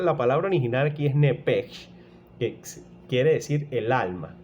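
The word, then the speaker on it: נפש: al salírsele el alma, esa palabra alma es nepej, así como suena, nepej, ¿ok? Esa pronunciación traducida al español es alma, ¿ok?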